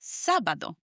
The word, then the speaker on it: sábado: Next is Saturday, which is probably the most similar in sound to the English word, Saturday, it's sábado. S-A-B-A-D-O with an accent on the first A, sábado.